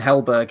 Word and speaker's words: Helberg: I didn't want to pronounce the surname wrong. Simon Helberg.